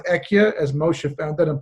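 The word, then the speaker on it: אהיה: life in the name Aleph Hey Yud Hey, which is pronounced Ekia, as Moshe found that in Parashat Shmos, when he says to God, whom shall I say is calling?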